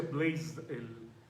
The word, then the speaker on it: Blaise Pascal: Blaise, y creo que se pronuncia Blaise en francés, ¿no? Es la pronunciación correcta.